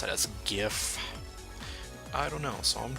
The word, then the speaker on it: GIF: understand that the word gif is pronounced with a hard G like the word graphic failure to do so